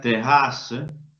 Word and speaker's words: terrasse: La palabra terrasse, no inocentemente, se escribe con dos R's. Se hace a propósito para indicar que la E anterior debe ser pronunciada.